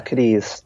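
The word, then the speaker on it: Cádiz: Yeah, Kadis. So the next So after Lisbon, it was consecutive days at Kadis, Mala, Aifa, and finally in Barcelona. Okay. So with Kadis, we actually decided against staying in Kadis.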